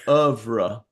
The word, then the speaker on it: oeuvre: Oeuvre? Ooh, I don't know. In French, it's oeuvre.